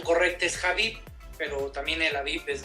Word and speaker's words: Habib: El término o la pronunciación correcta es Habib, pero también el Habib es válido.